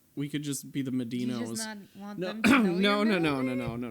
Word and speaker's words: Medino: the whole thing inception medino's where the medina was as it said medinos yeah it is said like the pizza joint doesn't it dora what